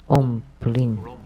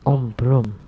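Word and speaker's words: Om Bhrum: So Master Pu Fang told me about Om Bulin, but based on what I know, it should be Om Brum.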